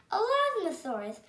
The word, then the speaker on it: Elasmosaurus: I'm going to tell you how to pronounce it. Elasmosaurus. Elasmosaurus.